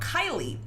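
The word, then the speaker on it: Keille: But because she was so doped up, it didn't come out Kelly. It came out Kylie. The weird part is they didn't spell it like you think you spell Kylie. They spelled it K E I L L E.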